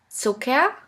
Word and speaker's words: Zucker: The first letter combination here is CK, which is simply pronounced like a K. Here we have the example of the word Zucker, which means sugar.